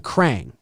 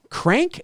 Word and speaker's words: Krang: I think you mean Krang. Crank?